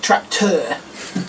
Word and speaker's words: tracteur: It's just tracteur, because it's French. So it's actually spelt tract. Now, the first part of it is spelt exactly how we spell it, but then it's got E-U-R on the end. Tracteur. I can't do a French accent.